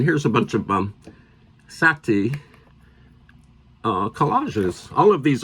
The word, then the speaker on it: Sätty: McKenna and um features lots of Sati art not setti and this is a